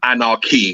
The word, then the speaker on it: Anarch: end these people are anarch I can't with my words anaran from the word um Anarchy so from the word Anarchy but it's anarch yeah that's how you pronounce it got you these people